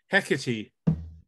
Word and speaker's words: Hecate: say that today the proper pronunciation of the other name is hecatee pick a tea yeah I've never said